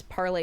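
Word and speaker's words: parley: Yes, parlay is pronounced like that.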